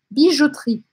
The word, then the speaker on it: Bijouterie: Então, lieu, o nosso lieu, desta vez, será bijouterie. Bijouterie. E aqui, mais uma vez, eu quero pedir para vocês que não falam nada de francês, tentar imaginar que lugar é esse que chama bijouterie.